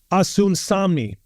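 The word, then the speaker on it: Osunsanmi: And if I could pronounce his last name correct, it's Asun Samni.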